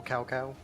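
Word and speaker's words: Cao Cao: names is outright offensive it should be General cowcow that's just me and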